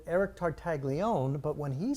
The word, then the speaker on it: Tartaglione: It's Tartaglione.